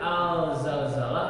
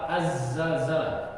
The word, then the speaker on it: Az-Zalzalah: Dibacanya Al-Zalzalah apa Az-Zalzalah? Al-Za apa Az-Za? Komariah apa Samsiah? Nah, coba lihat itu. Huruf besar di sini ada enggak? Idri, Jaga, Wakof, ada huruf besar? Nggak ada. Kalau nggak ada berarti bacanya apa? Samsiah. Jadi samsiahnya azza apa alza? Ajal. Tapi biasanya kita baca apa? Alza ya.